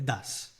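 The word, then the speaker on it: does: E é assim que pronuncia, tá? Não é dois, não. É das.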